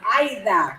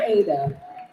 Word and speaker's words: Aida: Laura Martin, because my name is Aida, not Ada.